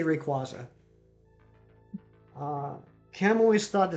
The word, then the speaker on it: Rayquaza: Um, I say Rayquaza. I say Rayquaza because there's not a second Y in the name.